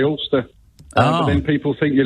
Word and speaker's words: Ulster: So David from Ulster, I don't know, how do you pronounce that? Ulster? Ulster, you've got it right, yeah.